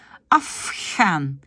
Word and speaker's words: afgaan: J'ai un F. C'est une consonne sourde, puisqu'elle n'a pas de vibration. Et normalement, a des vibrations. Mais comme il y a un F avant, je vais prononcer afgaan. Et le ici va devenir afgaan.